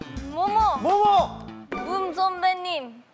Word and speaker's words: 붐: 붐 선배님. 어? 붐 선배 정확한 발음 뭐라고요? 붐. 붕. 붕 아니야 붕? 방귀 뀐 거예요? 붐 선배님. 붐 선배님 정답.